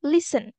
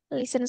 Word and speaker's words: listen: my free time good this one is listen listen so the t is signed oh I will play